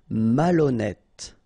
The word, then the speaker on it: malhonnête: correct dangereux ok final dangereux dangereux dangereux décider malhonnête ok remember ash doesn't exist so malhonnête Malonnête circonflex malhonnête désorganisé affreux final not pronounced and then you got this freux affreux ennuyeux OK.